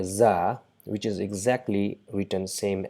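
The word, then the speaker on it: زاي: So just as in zoo, it's not Jew, or it's not uh, do or something like that. It's just a buzzing sound, buzz, z, Yeah, za. So with a at the end, za, za, za, za. So it's equivalent to English Z.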